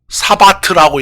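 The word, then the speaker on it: שַׁבָּת: 이렇게 쓰고 사바트라고 읽어요.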